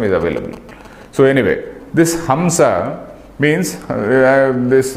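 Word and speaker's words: हंस: So anyway, this Hamsa means this Hagamsa. All these Yajurvedis, they pronounce it as Hagamsa.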